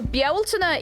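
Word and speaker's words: Bealtaine: Beltane, I'm assuming not pronounced Beltane. You see, the spelling Beltane is a bit... I'm actually going to write it out for you. So Bialtana is this...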